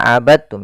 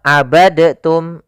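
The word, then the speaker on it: عبدتم: Hati-hati jangan dibaca abadtum ya, tapi langsung dimasukkan ke ta. Abadtum, bukan abadtum. Ya, meskipun dal termasuk huruf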